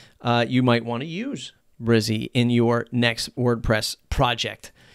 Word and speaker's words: Brizy: today is brizzy 2.0 i've been calling it breezy the folks over at brizzy pronounce it brizzy so brizzy 2.0 this